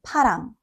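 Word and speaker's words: 파랑: One easy way to notice the difference is the amount of air. Try saying these words with your hand in front of your mouth. Parang. You should feel a strong puff of air on your hand. Now, say, param. There's much less air.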